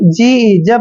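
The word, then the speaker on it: judge: जे यू डी जी जब भी जी से पहले डी आता है तो डी वहां पर हमेशा साइलेंट होता है मतलब डी का उच्चारण हमने नहीं करना है जेय को हमने ज लिखना है और यहां डी हमने नहीं पढ़ना है और जी का उच्चारण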